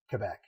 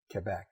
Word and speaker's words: Quebec: Most of my friends, their family hails from Quebec. You said it wrong, by the way. Quebec.